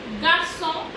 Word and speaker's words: garçon: G, which is pronounced as J. Garçon, garçon, garçon means a boy.